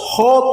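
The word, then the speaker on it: ὁ: perhatikan saya Pak hode jadi bukan o Pak kalau dalam bahasa Yunani Bukan dibaca o tapi Ho nih saya bacakan ya engak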